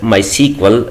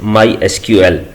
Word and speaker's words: MySQL: supported by Oracle Corporation we can call this product as my sequel but the official way to pronounce it is my SQL with the help of